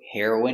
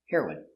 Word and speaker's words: heroine: M heroin heroin remember heroin is the pronunciation for the drug and heroin is a female hero pronunciation heroin heroin she's the heroine of